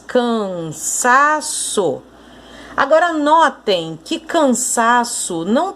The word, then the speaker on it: cansaço: Você conseguiu perceber que o sa é a sílaba tônica, a sílaba mais forte dessa palavra?